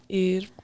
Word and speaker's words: Eid: Like, Eid.